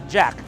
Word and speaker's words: JAC: they've got here is jaac nope not confusing at all actually they pronounce it Jack so they've got a